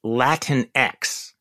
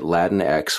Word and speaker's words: Latinx: as an ally of Latinx people, we say Latinx. So just want to be Latinx. Yeah. So that is, by the way, I got that from Elizabeth Warren. Rhymes with Kleenex.